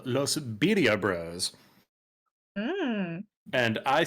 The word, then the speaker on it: birria: There is a food truck here in Norfolk called Los Birria Bros.